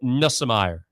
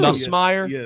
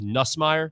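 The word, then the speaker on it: Nussmeier: Nusmire. No, that's wrong, too. Nusmeer. Nusmire. Not NM. Not. So, it's like three syllables. Nusmeer.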